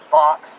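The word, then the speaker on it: BACS: and the way that Box operates. B-A-C-S, I pronounce it Box.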